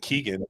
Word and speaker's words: Kegan: Kegan, like a keg and?